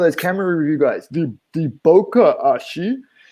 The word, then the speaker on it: bokeh: camera review guys the bokeh it's not their fault they've not heard it pronounced but you know when you watch camera shows on youtube and the the camera people like to call it bocca or have you heard